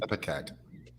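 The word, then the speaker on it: ipecac: Yes, Lori, it is pronounced epicac.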